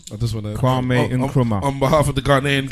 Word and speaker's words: Kwame Nkrumah: Yeah, and obviously people would tell You said his name wrong. I just want to Kwame Nkrumah.